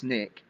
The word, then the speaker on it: SNCC: Student Nonviolent Coordinating Committee that's the SNCC pronounced snck changed her sense of